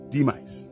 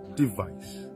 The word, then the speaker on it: demise: Repeat after me, say demise. Not device. Say demise. Remove V, put M.